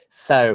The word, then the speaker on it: sew: making clothes okay so it's spelled like this but it's pronounced the same way as so as in so busy or so you got